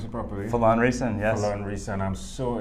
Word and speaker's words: Phelan Riessen: Did I pronounce it properly? Phelan Riessen, yes.